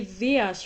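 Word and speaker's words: Δίας: In Greek, you say Dias for Zeus and Jesus for Jesus.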